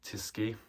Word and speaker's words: Tyskie: I'm pretty sure I've pronounced that right, Tyskie.